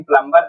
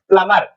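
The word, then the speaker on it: plumber: प्लंबर प्लंबर बोलते है लेकिन प्लंबर नहीं होता सही क्या होता है प्लमर चलिए आगे चलते है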